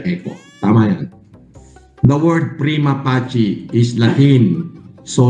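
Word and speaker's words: prima facie: The word prima pachi is latin. So sa latin ang letter C ay ch parang chak chaleko ganon.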